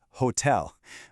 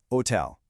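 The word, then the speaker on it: hôtel: So when you see a word like hotel, your brain screams hotel. But you just have to pretend that H is totally invisible. It's simply hotel.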